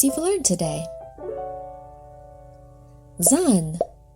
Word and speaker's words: Zan: Zan, pronounced za.